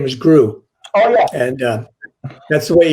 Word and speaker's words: Gru: movies with the minions right his name was gru and uh that's the way you pronounce it she's she's probably the one i